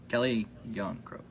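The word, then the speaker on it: Calle Järnkrok: I'm looking over here at the roster, and I think Yanrock. How do you pronounce that again? Calle Yarncroke.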